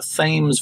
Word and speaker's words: Thames: a side note the Thames Valley on the phone pronouncing that right Thames Valley okay well there you even though spell tha mes Emily anyway they will